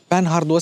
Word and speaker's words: Panhard: Well, this Panhard is pronounced Panhard, because Panhard was a French car company from the beginning of the 20th century, and they invented this crossbar.